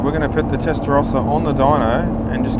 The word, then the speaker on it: Testarossa: I was even looking up how to pronounce it. Testarossa.